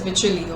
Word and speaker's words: Wycherley: Oh, and I'm sorry, the pronunciation is Wycherley, okay.